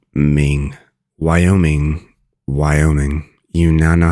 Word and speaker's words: Wyoming: is y o Ming Wyoming Wyoming you now know how to pronounce Wyoming not Wyoming Wyoming it's like y o Ming y o Ming Wyoming you know how to